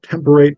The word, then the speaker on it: temperate: And it is important to say temperate because in the early modern accent, that is how it would have been pronounced.